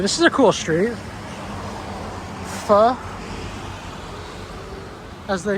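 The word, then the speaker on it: phở: Pho, as they say, pho. Even though it looks like it's pronounced faux.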